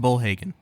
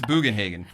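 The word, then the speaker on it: Bugenhagen: lot of people going it's pronounced bull Haagen no no it's bogenhagen bogenhagen it's a conference in Wisconsin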